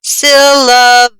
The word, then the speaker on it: syllabi: syllable that you will stress when saying it syllabi is how this is pronounced but if i needed an extra help